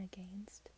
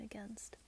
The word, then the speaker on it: against: I used to say again and against, and then people would